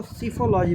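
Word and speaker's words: psephology: सिफोलॉजी कहा जाता है। इसमें पी साइलेंट रहेगा। आपको सिफोलॉजी बोला जाएगा।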